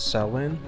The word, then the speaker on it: Samhain: Is Susanne, pronounced as Samhain, believed to be born of a pagan tradition.